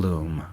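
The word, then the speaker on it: L'Homme: I bet his cologne was YSL L’Homme (pronounced Y-S-L Lume)’ Not like me.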